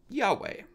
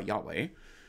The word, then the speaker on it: Yahweh: Typically, in English, we would say that that is pronounced probably Yahweh.